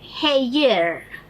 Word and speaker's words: hair: H-A-I-R. Hair. This is how we see it being written. Hair. No, it has to be pronounced as hair.